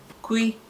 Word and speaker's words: kw: Kwi is KW. Kwi spelled as KW, pronounced as KWEE.